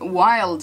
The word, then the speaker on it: Wylde: but I'm talking about wild flowers and it's spelled like a Wilde flowers and I do follow